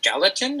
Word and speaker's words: Gallatin: I don't know how you pronounce it. Let me take you off mute, man. Yeah, Gallatin.